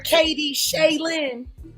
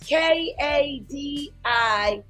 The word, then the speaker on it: Kadisha Lynn: Yeah, remember I kept calling her Katie Shaylin. Yeah. So it's KADISHALYNN, I believe it is. Kadisha Lynn. I kept calling her Katie Shaylin.